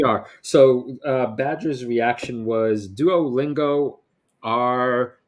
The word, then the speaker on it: Duolingo: So Badger's reaction was Duolingo R, and it rhymes with a duck.